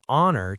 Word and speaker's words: honor: Number 4, our, honest, and honor take an because the H is silent.